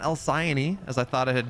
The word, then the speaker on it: Alcyone: are just keeping track of how often people mispronounce this map. Well, not Cats or I, not any longer. We got it right. Alcyone.